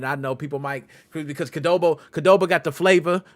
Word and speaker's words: Qdoba: Okay, one Chipotle, and the other one I'm not sure to pronounce it. Is it Qdoba? Yeah, Qdoba.